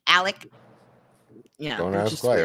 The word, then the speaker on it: Alex: At the head of these snakes were Alex, and how he pronounces, it's not Alex, even though it's spelt Alex. It's pronounced Alec.